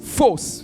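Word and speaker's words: φῶς: Lumière vient du grec fausse. Que quelqu'un me dit fausse. P H O S. Fause. C'est comme ça que ça se prononce.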